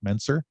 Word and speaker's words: Mentzer: So if you go through the pictures of Mentzer, am I pronouncing that right? Mentzer?